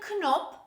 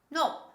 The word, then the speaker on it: know: nit the next word no no don't say knob this is no the next word knock knock knock i think